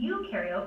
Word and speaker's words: eukaryote: And to help me remember some more differences in this next part, I like to remember that pro in prokaryote rhymes with no, and eu in eukaryote rhymes with do.